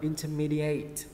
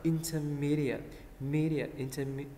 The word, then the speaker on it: intermediate: Mình không đọc là intermediate, đúng không? Mình sẽ đọc là intermediate, intermediate. Nhớ nghe âm âm ý, intermediate. Không đọc là eight.